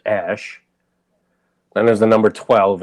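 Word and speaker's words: X Æ A-12: A, and then it's AE pronounced Ash.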